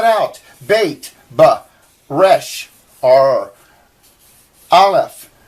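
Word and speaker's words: aleph: bait but Resh are alef they they actually say it's a silent letter and you don't uh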